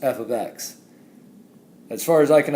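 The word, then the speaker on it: f(x): see this as your function name and it's pronounced f of X as far as I can understand the only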